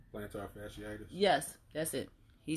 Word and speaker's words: plantar fasciitis: i forget how it's said i know it's plantus plantar fasciitis yes that's it he said it and i